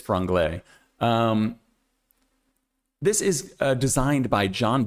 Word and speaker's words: Franglais: It is pronounced Franglais. Franglais. It is French, but that is the English way to say it, is Franglais.